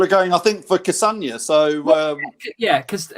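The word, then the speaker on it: Castagne: kassanya so yeah because castane sounds a bit like lasagna how do you say his name is it some people are saying because some people are saying castano some people how is it how do we say his name lads do we know well let's try it jamie how do you say it it's like lasagna cassano i would have said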